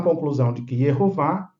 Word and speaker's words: Yehová: Nós temos Yehová, a pronúncia legítima dentro da língua hebraica, dentro da fonética hebraica.